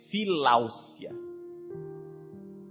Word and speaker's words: Filáucia: O nome é filáusia. O que é a filáusia? Filáusia se escreve com C.